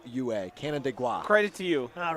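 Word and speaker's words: Canandaigua: It's almost like Canada, but not quite. C A N D A I G UA. Canada gua.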